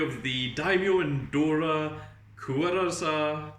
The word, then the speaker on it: Kwuasar: story of the Daimyo and Dora Kwuasar is supposed to be Kwuasar, but like spelled with a K.